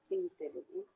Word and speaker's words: intelligent: So G is always going to be G.